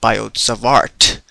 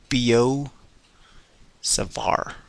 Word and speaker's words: Biot-Savart: uh till today evening I thought it's called biodes of art but then when I referred to the textbook called University Physics by searson zamansky they've written that it's it's pronounced Bo Savar so nice to know